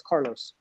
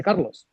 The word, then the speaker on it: Carlos: a little thing right it's very easy for me to introduce myself as Carlos but my parents didn't call me Carlos they call me Carlos and now that sounds subtly different but it is significantly different right I am Spanish I say my name in Spanish um I don't walk